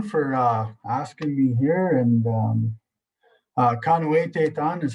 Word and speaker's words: pimohtēyahk: And pimohtēyahk is how you say it.